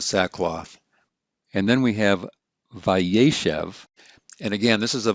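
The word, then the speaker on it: וַיֵּשֶׁב: a vive consecutive imperfect normally we would see ye shave like this with two series but since the accent's been shifted to the right it's vaishev then this final syllable loses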